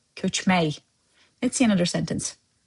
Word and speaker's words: köçmək: Remember, those words hələlik, ürək, where k sound at the end were replaced with y sound to soften the impact. Same applies here, köçmək.